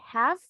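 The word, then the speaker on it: half: recuerdan que esta palabra h a lf cuando aprendimos los phonics esos sonidos y que había decía que habían letras silenciosas que se escribían pero no pronunciamos have es una nosotros no vamos a decir House no el sonido de la l no va esta palabra have media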